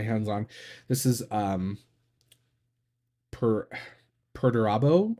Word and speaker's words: Perdurabo: This is per Perdurabo, I think is how you say it. It's Latin.